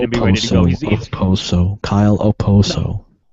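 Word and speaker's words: Okposo: the other day but they were calling him AO and I was like that's not a freaking Z even I know that like even I know it's not a z okay ooso yep obviously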